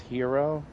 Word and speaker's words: gyro: a perfectly balanced gyro I believe it's pronounced hero I can't well the